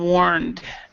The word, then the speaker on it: warned: warned in this respect this e is silent so we would say just D he has been warned about has been warned